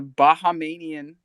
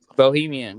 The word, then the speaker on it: Bahamian: The news is that the Bahamian, that's how you say it, government gave the go-ahead. What? Bahamian? Bohemian. That's what my son is. No, it's not Bohemian.